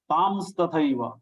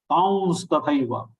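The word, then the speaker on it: तांस्तथैव: Many people are also pronouncing it as Tams tathaiva. Tam is also not correct. Tauns tathaiva. Anunasik va, that is nasal va.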